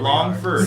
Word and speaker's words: Longford: my name is ABB Longford how you doing Longford Longford yeah do we know what l o n g f o r d spell it how it sounds we fun little how